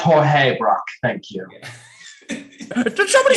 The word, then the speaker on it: Georges Braque: It's pronounced Jorge Braque.